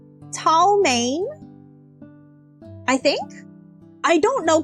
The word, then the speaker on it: chow mein: I think Chow Mein is supposed to be pronounced Tao Mein.